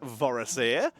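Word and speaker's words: Vorosaer: returning customer i'm just meeting my name is voracer this is my shop how can i help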